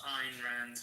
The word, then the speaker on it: Ayn Rand: It's actually pronounced Ayn Rand, but okay.